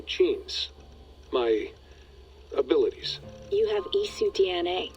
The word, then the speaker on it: Isu: You have Isu DNA. Isu, that's how you say it, See okay.